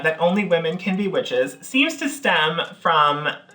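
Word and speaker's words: wicce: It stems from two Old English words, which were witche and witcha. We're almost 100% certain about that pronunciation. Witche, witcha. You know, like witcha.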